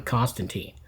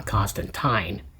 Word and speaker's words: Constantine: appearance of John Constantine, or should I say John Constantine, as Alan Moore pronounces the name. I mean, he created the character, so maybe we're supposed to say Constantine. It doesn't come right off my tongue. I've heard it Constantine for so long, but anyway, I digress.